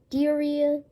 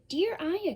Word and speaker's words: Dierya: the the diarrhea diarrhea actually it's called the dear aya keyboard i have really a really bad pronunciation of this name it is a weird one it sounds like diarrhea a lot of people call it the diarrhea keyboard but it's not the